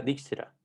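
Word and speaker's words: Dijkstra: años él era de era holandés y si se pronuncia dick será ya y el algoritmo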